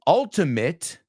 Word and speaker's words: ultimate: and there's another one ultimate no because mate Diana is my mate mate rhymes with late fate great weight right and ultimate ultimate rhymes with hit pit uh wi so again